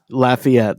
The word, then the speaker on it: Lafayette: I have to make sure you're pronouncing the city name correctly. Lafayette. It's Lafayette.